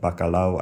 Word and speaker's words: bacalao: but it seems like bacalao actually has a syllable break Okay. in between the a and the o.